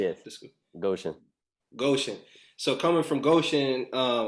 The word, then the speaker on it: Goshen: say you say goshen or gosh how you pronouncing it yes goshen goshen so coming from goshen uh what what was